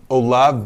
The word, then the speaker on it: Olave: Everybody who really knows him calls him Olave. Yeah. There's no accent on the E, obviously.